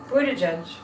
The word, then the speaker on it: Buttigieg: I think Pete Buttigieg, every once in a while I say it right, Buttigieg, every once in a while, I think Pete Buttigieg is going to be president of the United States.